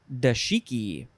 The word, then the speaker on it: dashiki: i think next is dashiki you could you could pronounce this dashiki da shiki or da dashiki and then of course